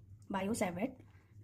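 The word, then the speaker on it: Biot–Savart: क्या नेम है, बायो सावर्ट लॉ, ठीक है, यहाँ पर टी साइलेंट है, बायो सावर्ट लॉ।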